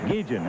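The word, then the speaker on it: Guillén: of cruz and ozzy guillen izzy pronounces his name gigen i don't know if that's his accent or what i said ozzy you don't mind if we just go ahead and say gee he said no go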